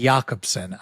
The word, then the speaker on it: Jacobson: But I watched uh Freddy Yakobson, I think is how he pronounces his name. It looks like Jacobson, but I watched him